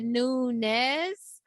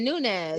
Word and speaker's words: Nunes: and our highlight of the week is amanda newness so amanda defeated juliana p that's how to pronounce it nunez yeah yeah so she defeated julianna pena to